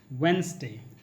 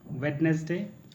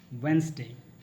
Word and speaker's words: Wednesday: the D sound yeah you in order to pronounce the D sound it should be yeah so it's Wednesday it's not wait-listed right not wetness day it's Wednesday the last one is Washington no when we